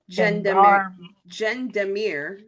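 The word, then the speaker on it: gendarmerie: elite presidential guard and I don't know if that's a hard G or a soft G I think of getting there on me gen Demir units that sounds right that sounds way better I told you say it in French and you're good but you have a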